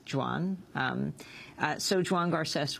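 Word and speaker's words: Joan: should also just say for folks who are called Juan in this country uh it is spelled Juan gares but the catalonian form of Juan is Jan um uh so Jan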